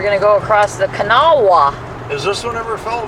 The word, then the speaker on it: Kanawha: but it's Kanawha. That's the way they pronounce it.